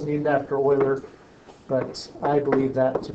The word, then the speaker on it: Euler: Okay, yeah, it's Euler. It's pronounced Euler.